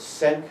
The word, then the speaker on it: Cenk: yeah, the U-boats, his name is, I'm not pronouncing his name right, it's Cenk, C-E-N-K, Erger, I think.